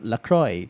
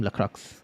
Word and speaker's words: Lacroix: Pronounce Lacroix, just for your information. Aha. I keep saying Lacroix. Keep pronouncing the X.